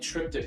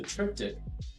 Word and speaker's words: triptych: All right, so next up, we have the 3rd panel of the giant triptych I did.